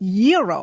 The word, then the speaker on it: gyro: Gyros I order the gyro Supreme suddenly the lady behind me chimes in it's pronounced Euro then the fellow behind her says it's a gyro I turn my back